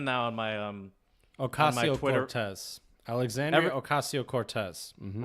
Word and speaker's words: Ocasio-Cortez: Alexandria Ocasio-Cortez. Mm-hmm. Right. So it's not Acacia, but I did have the word right. I just pronounced it wrong.